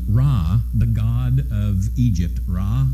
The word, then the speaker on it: Ra: The ninth of these victories, where Ra, the god of Egypt, Ra, the sun god, sometimes it's pronounced Re, but the sun god Ra, is now being taken to task.